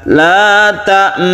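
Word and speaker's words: لَا تَأْمَنَّا: Jadi ketika kita membaca la ta'manna, ketika kita gunnah, bibir kita sambil monyong.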